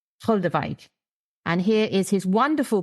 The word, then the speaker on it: Goldewijk: to say this because this is important, it's Goldewijk, Goldewijk.